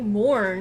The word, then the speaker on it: Morn: Okay, we have, this package is from Tony Morn, who told me that that's how you say his name, even though it looks like Morgan or something.